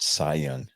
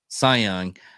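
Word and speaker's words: Cy Young: yesterday uh former uh Kai young winner pronounced sayong sayong uh winner Tre uh Trevor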